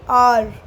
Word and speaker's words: hour: Okay, hour. H. It is starting with H, but we pronounce it as R. H is silent.